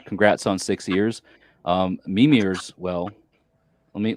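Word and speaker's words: Mímir: mimir's well let me let me put the is on the first syllable so a lot of folks that talk in in in these old Germanic languages want to put emphasis elsewhere but it's m instead of mimir right so mimir as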